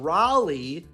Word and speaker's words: Raleigh: rule at age eight in Raleigh which rhymes with Wally this rule is when